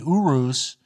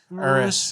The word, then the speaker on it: Urus: driver of a Lamborghini Urus uh invol is that how you pronounce it Urus I think it's Uris Uris um involved in a